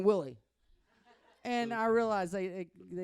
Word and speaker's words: Willie: was saying it wrong they say wheelie wheie and I'm saying Willie and I realized they